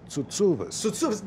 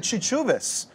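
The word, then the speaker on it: Tsoutsouvas: For some reason we say, but the really Greek way would be Tsutsuvas.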